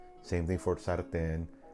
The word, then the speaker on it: sartén: Same thing for sartén, Cortés. The rule states if a word ends in an N or S, the second to the last syllable should have the stronger stress.